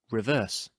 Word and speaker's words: reverse: In an iambic foot, the first syllable is unstressed and the second is stressed, as in the word I just used, reverse.